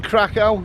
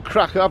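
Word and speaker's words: Kraków: It's August the 29th, 2019, and I'm in Krakow, or Krakow as some people like to pronounce it.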